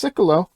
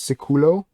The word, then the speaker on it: Sikulo: and wow that's him that's cyclo or it's sort of pronounced ceculo properly but since tekken has sort of a speech impediment he just says he just says siccolo he speaks because techian